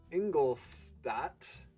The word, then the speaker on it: Ingolstadt: However, you don't have Pilsen yet, and you could take Ingolstadt. Yeah, that's how that's pronounced.